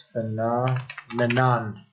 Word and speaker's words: phenomenon: Phenomena, or since phenomena is plural, this is a Latin plural, it's singular form, it's phenomenon. Phenomenon, stress is on the letter N.